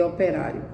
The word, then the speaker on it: operário: Eu vou dar só o primeiro exemplo de operário. O, depois pé, ra e rio. Operário, operário, operário. 4 sílabas. Sílaba forte, ra.